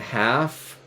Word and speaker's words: half: So, delicate and love making and like and half, although the L is silent, and curled and fiddlehead.